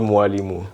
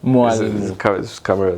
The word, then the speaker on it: Mwalimu: I I tried I tried going It's called Mwalimu. Mwalimu Yeah. That one. Mwalimu Yeah. It's pronounced m w a.